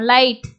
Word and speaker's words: light: இங்க வந்து ஜியை நம்ம வந்து உச்சரிக்கிறது இல்லை, எப்படின்னா இல்லு ஐ லை இட். ஸோ இதை எப்படி நம்ம உச்சரிக்கிறோம், லைட். அப்போ இங்க என்னென்ன சவுண்டு வருதுன்னா எல்லு பிளஸ் ஐன்ற சவுண்டும், அடுத்தது பார்த்தீங்கன்னா இட்டு சவுண்டு தான் வருது. ஓகே, இல் ஐ லை, அடுத்து இட்டுன்றது டீயோட சவுண்டு.